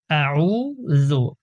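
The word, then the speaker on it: أعوذ: যেমন শুরুতেই আছে আউজু আউ। শুরুতে হচ্ছে হামজা আ। তো আমরা যেটা করি আ হামজার উচ্চারণটা আমরা সঠিকভাবে করি না।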